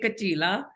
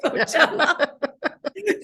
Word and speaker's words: Coachella: And he was somebody, I don't know who tweeted it, was like he was calling it Kachila instead of Coachella. Like he's like he was just the Punjabi pronunciation, and he decided it.